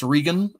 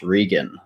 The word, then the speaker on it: Regan: now hey everybody and dylan was right that is how you say my name regan so there you go